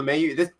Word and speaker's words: LeMahieu: DJ LeMahieu had 6 LeMahieu? RBIs Okay, today. that's how you say it. DJ LeMahieu.